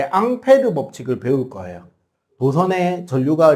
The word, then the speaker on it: 앙페르: 우리가 이제 다다음 주쯤에 전류의 자기장 이야기할 때 앙페르 법칙을 배울 거예요. 도선에 전류가 흐를 때 생기는 자기장. 그 앙페르의 영어식 발음이 암페어입니다.